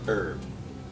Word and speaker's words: Herb: Actually, it's Herb. The H is silent.